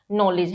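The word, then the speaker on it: knowledge: क्या होता है कि जब भी के एन से पहले आ जाता है तो के साइलेंट हो जाता है फॉर एग्जांपल नॉलेज है ना बहुत बार मैंने बच्चों को पढ़ते हुए देखा वो इसको नॉलेज भी बोल देते हैं है ना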